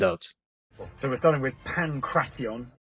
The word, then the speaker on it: pankration: so we're starting with pantion finally the correct pronunciation although pankration does not